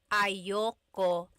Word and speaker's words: ayaw ko: Usually it's pronounced ayoko siya. So if you want to sound a little bit more natural, you put everything together, ayoko siya. Ayaw ko siya is ayoko siya.